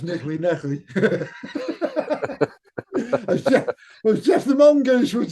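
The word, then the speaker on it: Kneale: Oh, that's why it sounds strange to me because it's pronounced Nickley.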